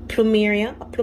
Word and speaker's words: plumeria: Now, if you love pineapple, for me, I've been falling in love with plumeria, that's how you pronounce it, that right there, plumeria, especially in perfume.